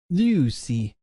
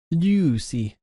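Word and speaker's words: λύουσι: The stem and ending is usi, so together that would create lusi. Try to pronounce the ypsilon there with the e, almost e sound, and then the digraph omicron ypsilon as u. Lucy, Lucy.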